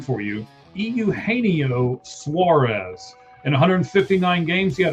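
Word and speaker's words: Eugenio Suárez: I'm going to help you pronounce his name for you. Euaneo Suarez.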